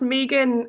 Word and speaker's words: Megan: gonna tell you that my name is pronounced Megan it's Australian all the time I'm